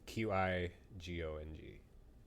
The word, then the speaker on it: Qigong: It's Qigong.